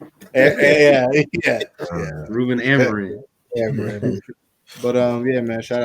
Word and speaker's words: Amorim: Amorim. Yeah. Ruben Amorim.